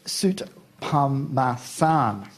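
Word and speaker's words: Soutphommasane: I've known Tim for 2 years, and apparently I've been mispronouncing his name. It's Soot Pamasan.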